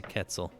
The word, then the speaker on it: quetzal: got the long green feathers yep it's a quetzal it's definitely ketzel feathers wow yeah here take a look at